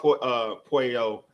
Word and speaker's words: Puello: So it's why I was checking out Puello. I said it right this time. Puello on checking out some of his fights, and dude he's aggressive.